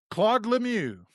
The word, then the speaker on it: Lemieux: Claude Lemieux.